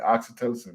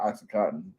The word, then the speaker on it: oxytocin: dopamine oxytocin and serotonin that time I said it right oxytocin not oxycoton F all that [